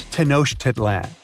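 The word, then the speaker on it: Tenochtitlan: It's tanoshedlan. And Mayan cities are hard to pronounce, too.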